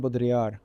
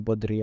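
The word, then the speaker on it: Baudrillard: in the world of I'm always mispronouncing his surname uh Jean bodri I think would would be correct I need to say it more confidently Jean bodri I need to find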